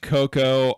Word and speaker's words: Coco: Yeah, I know it's pronounced Coco.